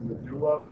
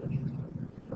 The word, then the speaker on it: medulla: I know it looks like it should be pronounced the medulla. I've heard it pronounced that way, but really the most appropriate pronunciation is the medulla.